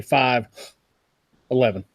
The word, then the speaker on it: 5.11: read that logo cuz I read it 5.11 it's fine I'm 11 okay cuz I put this so you heard it so the dot is silent I just already said 511 so that's all yeah